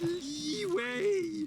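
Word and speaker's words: Liyue: __ ] up or it's pronounced leeway Lee waste your time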